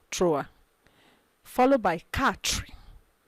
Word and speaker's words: quatre: Quatre. Don't forget, it is not qua, it's ka. You realize the Q and U as K.